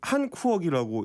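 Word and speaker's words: Hàn Quốc: 저게 지금 한쿠억이라고 읽는 거더라고요. 한쿠억? 한쿠억인데 네. 이제 한국이라는 단어를 이제 베트남어로 쓴 게 저겁니다.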